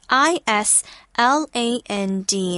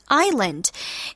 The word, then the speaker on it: island: our word PA word Island and remember uh Island although it's spelled with an S the S when you read it out loud it's silent so we don't pronoun